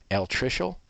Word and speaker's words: altricial: Okay, let's practice these 2 words, and I will pronounce them for you again. Altricial or precocial.